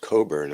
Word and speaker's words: Cockburn: bum it says maybe it's cockburn and which would be pronounced Coburn I believe anyway Claude let me